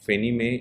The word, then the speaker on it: Fannie Mae: Mae so this is how it is pronounced fenimae you can write like